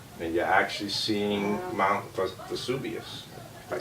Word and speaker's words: Vesuvius: a great question then you're actually seeing Mount Vesuvius I pronounced it correctly in the distance which technically